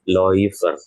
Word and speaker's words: Läufer: Bukan menjadi EU ya, tapi dibacanya menjadi OI ataupun OI. Nah, maka kalau ada A umlaut bertemu U ini, berarti bacanya apa? Dia menjadi Läufer.